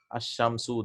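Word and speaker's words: الشمس: See, we are not pronouncing the lam.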